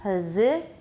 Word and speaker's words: position: and everybody also know the S is pronounced as Z position and also the if